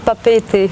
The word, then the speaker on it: Papeete: Les Français ils disent Papette, je ne sais pas pourquoi, mais... Oui, en tahitien on dit Papeete. Ah d'accord, vous prononcez le « e » à la fin, c'est ça?